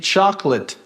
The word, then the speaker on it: chocolate: A mesma coisa acontece com chocolate. Mas a gente pode reduzir para 2 e fala chocolate. Chocolate.